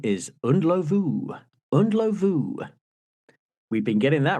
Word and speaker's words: Ndlovu: Peter Underlove. Correct. Thank you very much. Okay. And in fact, the correct pronunciation is Undlovu.